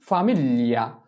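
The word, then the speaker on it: famiglia: যেমন পরিবারকে ইতালিয়ান ভাষায় বলা হয় ফামিল্লিয়া। ফামিল্লিয়া মানে হচ্ছে পরিবার। ফামিলিয়া। তোমরা আজের লেভেলের যারা স্টুডেন্ট তারা উচ্চারণ করবা কি এটাকে?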